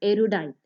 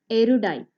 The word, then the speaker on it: erudite: words in vocabulary section of competitive examinations is erudite i repeat erudite e r u d i t e i hope you got the pronunciation right it